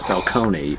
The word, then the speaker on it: Falcone: too we meet Carmine Falone again who was introduced in year one and you keep saying his name wrong it's not heard several times in the movie was Falcone yeah yeah well Falcone